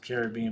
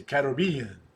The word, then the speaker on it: Caribbean: You pronounce it Caribbean, but I say Caribbean. Caribbean. The Caribbean.